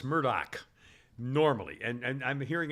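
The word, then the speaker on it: Murdaugh: by the way again the name murdog is pronounced Murdoch normally and and I'm hearing it now pronouncing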